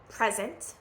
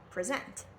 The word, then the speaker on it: present: So nouns, you're going to always stress the first syllable, present, and verbs, you're going to stress the second syllable, present.